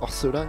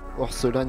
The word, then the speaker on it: Orelsan: Et les deux derniers sont Orelsan et non, Orelsan et Grinch. Ça se prononce Aurel, San, San, San, San, San, San, San, San, San, San, San, San, San, San, San, San.